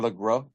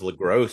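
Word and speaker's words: LeGros: Um so they got James Lross uh or Lro. I haven't heard it. Lro is how they pronounce it on the commentary. I've always thought it was Lross because it ends with an S, but you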